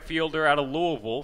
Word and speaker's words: Louisville: it's now in - you kind of had that Midwestern pronunciation of Louisville I've always gone with Louisville just because that's how they say it down south you know - upstairs on